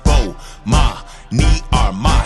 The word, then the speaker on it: Bomani Armah: to the morning announcements imma say my name so you can pronounce it oh ma me are my shout out to early